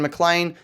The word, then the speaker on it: McLean: on Twitter at McLean. That's RyanMclean, Scottish spelling. Don't ask me why we spell it like that, but still pronounce it McLean.